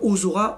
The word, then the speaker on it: Ozora: C'est Ozora, voilà, il faut appuyer sur le O, donc des fois ça met un H. Personnellement, j'ai pas l'intérêt parce que c'est pas parce qu'il y a un H que les gens vont prononcer comme ça. Je préfère le Ozora, O-Z-O-R-A. Bon, voilà, mais à la rigueur, il y a débat.